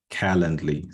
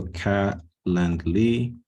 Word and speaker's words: Calendly: to this website called Calendly. So I'll go through Google first so you guys can see me search for it. So Calendly, spelled like this. Okay, not calendar, calendly, DLY.